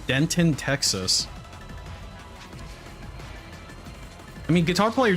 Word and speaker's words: Denton: in a place called Denton Texas I mean guitar player just tipped today right hey that rhymes with Ron so it's called Denton it's called Denton Texas it's full of a ton of dents and I'm just like